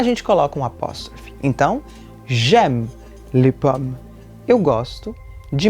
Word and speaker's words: j'ai: A gente tem uma tendência a pronunciar esse é mais aberto quando queremos falar da primeira pessoa. Mas, na verdade, se a gente falar o é mais aberto, a gente vai estar traduzindo, conjugando o verbo ter.